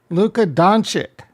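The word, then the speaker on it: Luka Dončić: gals you probably didn't get it all right Luca doncic that's how you say his name this is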